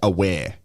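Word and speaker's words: Awer: So in Adelaide United, for example, we had a player that traditionally here they call him Awa Mabil. But his name is pronounced Aware.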